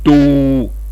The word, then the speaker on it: tô: Le son qui a été souligné, vous le prolongez. O avec accent circonflexe, c'est un O fermé, on doit le prononcer normalement, pas comme certains Ivoiriens le prononcent. Donc c'est comme dans hôpital, comme dans côte. Donc to, vous prolongez le son.